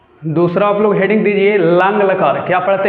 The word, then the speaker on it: लङ्: दूसरा देखो, दूसरा आप लोग हेडिंग दीजिए लंग लकार। क्या पढ़ते हैं इसको? लंग। क्या पढ़ते हैं? लंग। 4 बार उच्चारण करिए, लंग यानी भूतकाल।